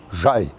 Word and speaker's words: Jaï: écrit ja y et maintenant on l'écrit J a I avec entraîneur mais on ne le prononce toujours de la même façon on prononce toujours j'aille par contre alors il